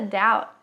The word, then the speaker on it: doubt: aqui é que Doubt o b não é pronunciado e o t também a gente só encosta